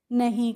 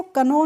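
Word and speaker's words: know: किसी भी वर्ड में अगर आपको के के बाद एन मिल जाती है तो वहां पर आप के का प्रोनाउंस एशन यानी कि उच्चारण नहीं करते हैं इसीलिए इसको कनो नहीं पढ़ते हैं क्या पढ़ते हैं नो पढ़ते हैं और एली का कर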